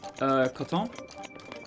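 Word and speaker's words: Koton: I never actually asked, is it cotton as in, you know, the plant? Or is there a different pronunciation going on that I'm unaware of? Please be here. Coton? Is that right?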